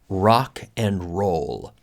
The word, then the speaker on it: rock and roll: And be careful, we don't we can't roll the Rs. No se dice rock and roll, sino rock and roll.